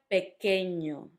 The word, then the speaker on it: pequeño: And last word, pequeño. You had the ñ and you had the que.